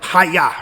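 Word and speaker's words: הָיָה: Hebrew word to be, which is Hayah. Like, think like Taekwondo, Karate Kid, like Hayah, right? It's the same kind of, pronunciation, even though the meaning is completely different.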